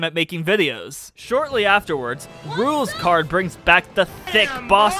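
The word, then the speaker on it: Rouxls Kaard: Oh wait, it's pronounced rules card.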